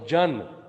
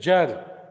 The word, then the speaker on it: genre: Don't say Jan. It is Jar.